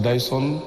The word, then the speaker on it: Dyson: Ça va pas être facile, hein, parce que moi, sur l'étoile, c'est Dyson. Oui. Dyson, et c'est pas, en fait. C'est pas, c'est Dyson. Donc Dyson.